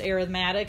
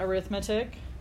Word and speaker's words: arithmetic: arithmetic sequences yes that is supposed to be pronounced arithmetic not arithmetic in this case arithmetic is what you do